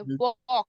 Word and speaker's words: walk: ठीक है, एल के लेकिन वो हमारा एल साइलेंट होता है, वॉक, वो वॉक मतलब वो चलना।